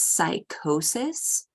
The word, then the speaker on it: psychosis: be a BB sound the next word is psychosis and similarly we could see with the p